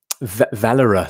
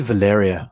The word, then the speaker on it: Valera: email to me um valera so i always get your name wrong i call you valeria thinking like from some